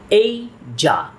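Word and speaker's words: Asia: listening পার্টের audio স্ক্রিপ্টে শোনা যায় এটার সঠিক উচ্চারণ এইজা এইজা ইজ the largest continent in the world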